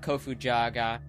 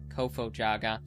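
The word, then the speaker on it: Kofo-Jaga: I believe it's eight with the uh the Kofu Jaga. I didn't pronounce that right, did I? Kofo Jaga.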